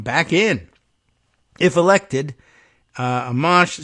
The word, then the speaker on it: Amash: Ames or amach sorry I used to go with amsh but I don't know I kind of like that pronunciation but Amash I think is the way that uh Roslin points out it it is said locally the former representative a